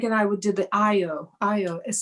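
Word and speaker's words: Ayọ: Anyway, Craig and I would do the Io. Io is spelled A-Y-O.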